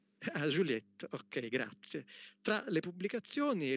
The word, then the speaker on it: Juliet: Pronuncio bene? Juliet. Juliette, ok, grazie.